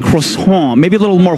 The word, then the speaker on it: croissant: shouldn't I know I'm giving him the incorrect pronunciation Clayton right you threw him under the bus croissant croissant he's right croissant maybe a little more H and you would